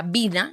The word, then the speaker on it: Wiener: Entonces, bien pronunciado, ni siquiera, bueno, me enteré hace poco, se pronuncia Vina, Gabriela Vina, imagínate, Vina.